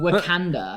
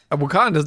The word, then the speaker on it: Wakanda: It's like me saying Wakanda.